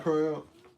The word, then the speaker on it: Purim: Purim.